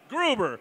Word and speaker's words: Gruber: Gruber. Of course, like Hans.